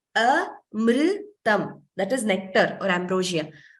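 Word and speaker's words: अमृतम्: Very commonly, we hear it as amrutam. It is not amrutam. In Sanskritam, we do not pronounce that way. There is no u.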